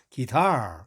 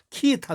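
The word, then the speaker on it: guitar: 기타 r&d 타가 아니고 기타 영어로 할 때는 기다 이렇게 타액 3 들러서 발음합니다 기사 기사가 아닙니다 기타 심지어는 어떤 사람들 키 기타 라고 하는 사람도 있어 키타 도 아니고 기타도 아니고 이다 이렇게 해주면 좋습니다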